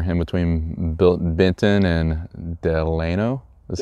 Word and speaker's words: Delano: yes sir here him between bill Benton and Delano that's how you pronounce Delano that's how the locals pronounce it I did